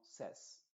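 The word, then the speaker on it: says: en en inglés ces ya no se dice se sino ses cuando está para la tercera persona singular Este es un verbo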